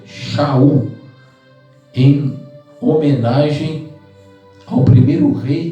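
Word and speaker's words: שאול: Então o livro de Atos menciona que ele chamava-se Saulo, que é o seu nome hebraico, é Saulo, que no hebraico é Saul, a pronúncia é Shaul, em homenagem ao primeiro rei de Israel, o rei Saul, da tribo de Benjamim.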